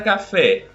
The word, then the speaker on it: café: A palavra café, nós também temos uma palavra oxítona, não é um monossílabo